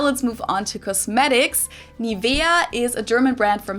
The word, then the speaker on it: Nivea: English native speakers usually say Nivea. Nivea. In German, we say Nivea. Nivea. So, the emphasis is on the e.